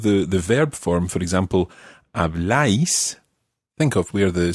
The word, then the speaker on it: habláis: verb form, for example, habláis, think of where the stress goes on that. Habláis. Where does the stress go? On the A. On the A, so habláis, as opposed to habláis.